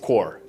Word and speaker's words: Corps: and pronounced core.